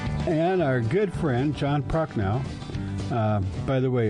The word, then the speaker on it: Prochnow: And our good friend, John Prochnow. By the way, it's spelled with an H, not a K, right?